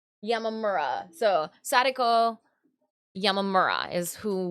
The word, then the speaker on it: Yamamura: It is Yamamura.